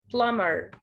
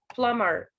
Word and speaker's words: plumber: say plumber of course there's a b here but it's a silent b we don't pronounce it we have to write it but we don't pronounce it so he is called a plumber plumber plumber let's see the